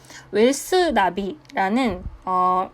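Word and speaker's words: WealthNavi: 있었는데 한국에 없었던 거예요 웰스 나비라는 나비가 내비게이션이거든요 얘는 나비게이션이라고 발음을 해서 그런데 웰스 나비라는 기업이 있는데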